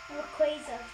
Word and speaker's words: Rayquaza: This is, how do you pronounce this? Rayquaza.